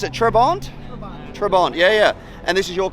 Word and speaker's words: Trabant: This is, how do we pronounce it? Trabant? Trabant, yeah.